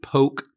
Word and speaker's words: Polk: those of us from Polk County pronounce it Polk County.